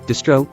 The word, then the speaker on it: distro: Stri would typically be pronounced similar to the beginning of street or stripe. Stro, on the other hand, would be pronounced similar to the beginning of strobe, which isn't exactly the same but close enough in American English that we'd rather say distro than distri.